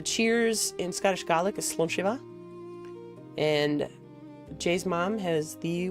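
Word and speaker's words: slàinte: The cheers in Scottish garlic is slunch. And Jay's mom has the worst time trying to pronounce slanche.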